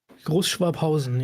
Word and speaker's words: Großschwabhausen: And Großschwabhausen. Did I pronounce that correctly, Jan? Großschwabhausen, yes.